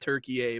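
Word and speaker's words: Türkiye: Uh it is pronounced Turkey A by the way.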